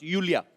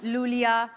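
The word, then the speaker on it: Iulia: Pronounce Yulia. Yulia. And the spellings are I-U-L-I-A. So I Thank क्यों God मतलब? you know. I mean, why I? Thank God. Everyone is calling me Lulia, but Lolia I like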